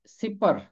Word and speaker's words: सिपर: ढाल और सिपर, इसका तलफ्फुज है सिपर।